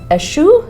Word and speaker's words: eschew: And now the word is eschew?